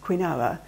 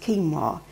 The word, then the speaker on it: quinoa: i n o a which you think be pronounced quinoa it's actually pronounced quinoa and you can buy it as a flake